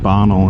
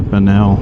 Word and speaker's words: Bonnell: Alright, so now we're over by, this is the highest point in downtown, Mount Bonnell or Bonnell, depends on, I've heard people pronounce it different ways, but I've done a